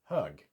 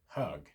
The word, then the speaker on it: hög: Hög. H-G. Hög.